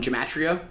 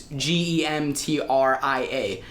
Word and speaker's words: gematria: Like, I don't know if you know about gematria. I don't know if I'm saying it right. It's Gemtria.